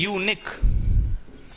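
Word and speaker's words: unique: यहां पे यूनिक का प्रोनाउंसिएशन क्या होता है, या से आता है, यूनिक, तो या आ गया, या आएगा तो हम क्या लगाएंगे, ए।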